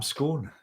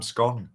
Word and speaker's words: scone: try I like that jam scon or Jam scone which how you want to pronounce it bloody lovely that